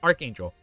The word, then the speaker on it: archangel: Did I say arch? My bad. Archangel. Archangel. Sorry. Archangel. I know it's it's spelled as arch, but it's archangel.